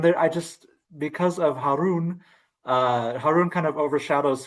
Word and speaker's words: Harun: Rosalyn or uh Sabah you can correct my pronunciation. Uh could you repeat again? Is it Har Rashid? Haron Harun.